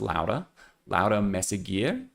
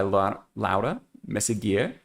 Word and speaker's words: Laura Meseguer: It is Placa by, I'm going to try to say, I'm going to probably accidentally revert to my Americanized version of Laura, but I do believe her name is pronounced Laura Meseguer.